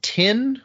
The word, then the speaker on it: Tyn: And 24 is called, I'm going to pronounce this Tin or Tyne, Tyn is the word.